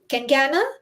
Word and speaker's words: Kencana: So without further ado, I would like to introduce my guest for today, and we have Kengan Kengana. That's the way Kencana? you pronounce it. Kengana, Yes, yes, Kengana.